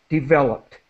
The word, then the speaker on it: developed: has become and then developed a t sound at the end developed okay so great um